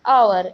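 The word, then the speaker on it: hour: Next is आवर. Start consonant से है बट इसका प्रोनाउंसिएशन वॉवेल में आ रहा है तो यहाँ पर हम एन लगाएंगे.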